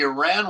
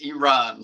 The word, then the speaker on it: Iran: He says, "It's E and a guy named Ron." So, Iran, it's not Iran, it's not. It's Iran.